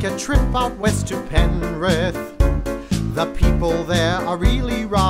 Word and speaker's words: Penrith: Is that how you pronounce it? Penrith.